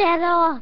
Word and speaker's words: cero: Cero! That's how you say it in Spanish, cero.